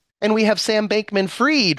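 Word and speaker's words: Fried: we have Sam bankman freed rhymes with greed the opposite of freed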